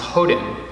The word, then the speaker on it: Hoden: my Dharma name is Houghton which is actually the Japanese pronunciation of two characters that I was given the Korean pronunciation as